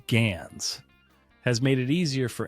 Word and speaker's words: GANs: The rapid accessibility of AI tools, such as in generative adversarial networks, pronounced GANs, has made it easier for anyone to create convincing deepfakes, and they are not limited to visual media.